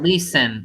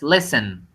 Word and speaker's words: listen: yes in that case it's not listen it's listen you don't even pronounce this okay vowel listen listen up